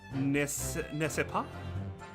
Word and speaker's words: n'est-ce pas: N'est-ce pas? Wait, no. How? That it's not. That C's not pronounced like the S, right? It is n'est-ce pas.